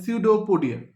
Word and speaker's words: pseudopodia: এখানে পিটা সাইলেন্ট, এটাকে বলা হয় pseudopodia.